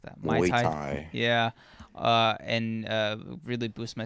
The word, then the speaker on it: Muay Thai: He was like, "Oh yeah, just wait until I get like boxing or Muay Thai. Why did I say it like that? Muay Thai.